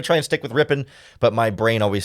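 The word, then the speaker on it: Rypien: offseason and I never I've always heard it as rippan but I think the Rams pronunciation guide says Rippin so I'm going to try and say I'm going to try and stick with rippen but my brain always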